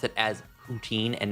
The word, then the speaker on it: poutine: We pronounce it as poutine and not poutine.